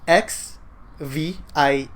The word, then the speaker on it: XVIE: Okay, so basically it's spelled XVIE and then pronounced XV.